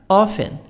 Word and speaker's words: often: almost L silent, often T silent, almost often.